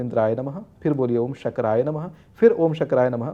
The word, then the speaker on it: शक्राय: शुक्राय नमः करके मत बोलिएगा, मेरा उच्चारण में यहाँ पे भेद नहीं है।